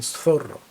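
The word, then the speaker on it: Zorro: Зорро про месника так він не Зорро він сорро і тут маємо для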